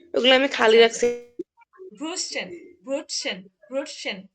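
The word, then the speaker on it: Brötchen: আমি খালি রাখছি ব্রুসেন ব্রুটসেন ব্রুটসেন এই যে টে আছে এস আছে একসাথে উচ্চারণ হবে ব্রুটসেন ব্রুটসেন আর এটা অনেক সহজ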